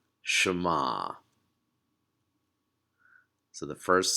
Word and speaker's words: Shema: to kind of listen up and it is pronounced Shema so the first syllable is sure everyone see